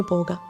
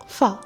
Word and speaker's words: Phở: ഇന്ന് നമുക്ക് വിയറ്റ്നാമിൻ്റെ കത്തിക്കൊണ്ടിരിക്കുന്ന അടുക്കളയിലേക്കൊന്ന് പോകാം. പോ പോ അല്ല ഫ. പലരും പോ ഫു എന്നൊക്കെ പറയാറുണ്ടെങ്കിലും ശരിയായ ഉച്ചാരണം ഫ എന്നാണ്.